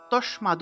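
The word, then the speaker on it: तस्मात्: আসবে তাহলে মৃত্তাসিয়া চা তারপর দেখুন তসমাদ লেখা আছে তসমাদ কিন্তু আমরা উচ্চারণ কি করব তাসমাদ এখানে দেখুন এই দ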